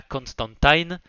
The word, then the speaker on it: Constantine: Et voilà, on a le retour de Joanna Constantine. Et oui, dans cette série, ils disent Constantine, il me semble que c'est la prononciation originelle et ça a été modifié avec le temps.